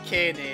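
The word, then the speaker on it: Keine: You would have to say Kene in Japanese, and that sucks, so I'm pronouncing it the German way.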